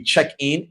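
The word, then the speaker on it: Cheqin: Uh the app will be checkin. The checkin is spelled C H EQ- I N.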